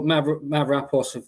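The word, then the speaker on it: Mavropanos: But then you've got obviously your Mavropoulos, that's how you pronounce it, the Greek lad.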